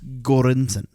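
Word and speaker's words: Göransson: um Frank it's Ludwig okay Mr cornson so pronounce Joseph Shirley yeah Joseph Shirley did a great job too it's gorinson good Lord oh I'm off the show I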